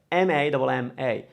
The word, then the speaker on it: mamma: So it's spelled M-A-M-M-A, mamma, mamma. Now the way this word sounds, the way we actually created the double sound has almost nothing to do with the double M.